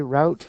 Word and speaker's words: route: to say route um I learned to say route uh when I went to Dallas Texas the Americans say route and they would laugh at me when I said root soor okay um now